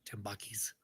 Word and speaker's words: Tambakis: Nobody here knew that we were pronouncing his last name wrong.